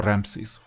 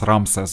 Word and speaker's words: Ramses: or 4-star Ramses or Ramses. I learned them as Ramses, by the way, because of the Eastern and Mid-European pronunciation.